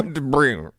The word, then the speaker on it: debris: Debris. You idiots, the S is silent.